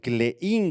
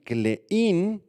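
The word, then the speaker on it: κλεῖν: en la mano aquí la palabra griega llave clein con k y acento en la i clein verdad eh es un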